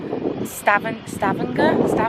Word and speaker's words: Stavanger: think of us gorgeous i think i'm saying it wrong by the way because i just heard uh scott says stavan stabenger no it's just like the g is like really soft oh okay maybe i'm